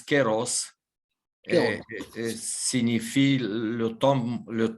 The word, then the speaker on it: kairos: kairos oui pour vous kairos c'est cela la même notion quel en philosophie dans la philosophie grecque il y prononce queiros et signifie le temps